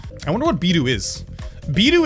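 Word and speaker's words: ビール: BIRU is how you say beer in Japanese.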